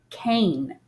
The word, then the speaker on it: Caine: al team in it with a long a sound so you say his name like this Cain now Cain built an